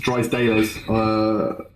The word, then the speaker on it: Drysdalez: So you pronounced it correctly. So Drysdalez is the name. So my first name's. My second name in real life is Drysdale. It's just got a Z on the end of it.